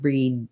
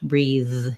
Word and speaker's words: breathe: make it easier also just watch out that you don't stop the air it would sound too much like breed then if the air gets stopped breathe you should be able to continue on that th sound um so yeah that ea is just an is just an e sound so i would rewrite